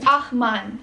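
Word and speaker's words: ag man: The right way to pronounce that word is Ahman.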